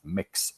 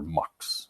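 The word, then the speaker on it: Mx: gender neutral title and usually we pronounce it as mix or or marks right for example the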